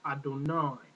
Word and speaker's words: Adonai: com under the no the Divine which gives you the pronunciation of Adonai the Divine name however